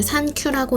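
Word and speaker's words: サンキュー: 일본에서 39를 산큐라고 읽는데 땡큐의 일본식 발음과도 똑같아요.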